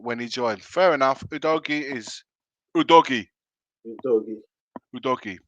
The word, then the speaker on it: Udogie: right C Cube saying it's a doy because UD DOI oogi told interviewer how to pronounce it when he joined fair enough udogie is Udi UD DOI